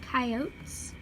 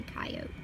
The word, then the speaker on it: coyote: difference between wolves and coyotes like if you're from the West in New Mexico we say coyote but coyote is also a correct pronunciation either way works according to the spirit